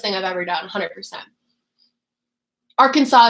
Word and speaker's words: Arkansas: I've ever done 100% Arkansas is how you pronounce it okay that's what I live in the United States like I definitely bought that but when you read it you're like Arkansas um it's okay you